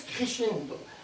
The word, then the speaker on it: crescendo: Alors, ça s'écrit crescendo et ça se prononce crescendo.